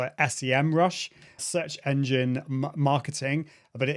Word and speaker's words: Semrush: I always used to call it SEMrush, search engine marketing, but it is pronounced SEMrush.